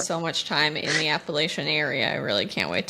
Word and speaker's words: Appalachian: Appalachian?